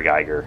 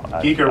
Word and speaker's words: Giger: Geiger, which is what I used to call him.